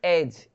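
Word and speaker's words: edge: वैसे यहाँ पे देखेंगे एज, एज डी साइलेंट रहता है, डी, एज मतलब किनारा, ठीक है।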